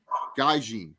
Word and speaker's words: gaijin: How do you say gaijin? Gaijin. It's gaijin. Whatever, same shit. With an N. There's an N.